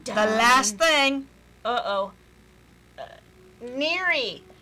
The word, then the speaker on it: N33RI: Neary. Neary, But it's spelled actually with 3s. N33RI.